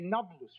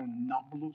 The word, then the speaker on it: Nablus: The Romans conquered Shechem and called it Napulus, Naples. The Arabs have difficulty pronouncing a P, so Napulus became Nablus.